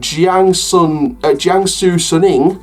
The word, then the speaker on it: Jiangsu Suning: you got Los Angeles Galaxy, Inter Milan, and Jiangsu Suning, that's how it's pronounced.